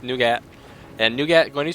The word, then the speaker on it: Nougat: It's not Nugget. Nugget would be NU, so it's Nougat.